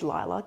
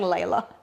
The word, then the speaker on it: Lila: And it's like, well, by the way, it is Lila to those. oh, The amount of people saying Layla.